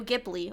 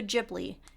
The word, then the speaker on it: Ghibli: I wanted to do Studio Ghibli or Studio Ghibli. It can be pronounced either way, however you prefer.